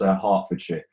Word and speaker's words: Hertfordshire: And you did pronounce that wrong, Brandon. That's Hertfordshire.